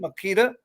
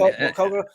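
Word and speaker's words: Maquoketa: is it Makita? Is that how it's pronounced? Well, what was that, Makokata? I mean, that was a Makokata, campground. Makokata.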